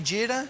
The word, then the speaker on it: jeera: Am I saying it right, jeera?